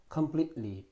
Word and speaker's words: completely: completely, t 발음이 거의 소리 나지 않습니다.